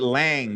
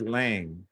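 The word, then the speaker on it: Lange: You You pronounce it Lang. You got a E on it. Is it Lang E162? You got a E on it, but it's pronounced Lang.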